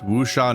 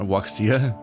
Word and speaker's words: wuxia: It's Wusha Noodle House. I know how to pronounce that now. Finally. Not Wuxia. I always saw Tales of Wuxia as a game. Like, what is that? Like, oh, it's Wusha.